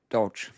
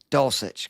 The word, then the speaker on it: Dulcich: I may punt on tight end and just play Bellinger and Dolch. How do you say it again? I know I can't. I'm an idiot. Dulcich.